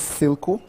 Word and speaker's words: SILCO: So this is SILCO. SILCO. Or silk. Oh, like silk material, SILCO. There you go. So you guys make shirts? No. Yeah, so that is SILQU, SILCO, yeah.